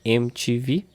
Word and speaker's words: MTV: ti vi" or MTV, as we used to say in Brazil, MTV or "em ti vi", with Brazilian pronunciation.